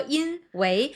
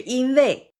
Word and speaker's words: 因为: 刚才你说因为，但是其实我们对，其实正确发音是因为，这个是一个语言习惯。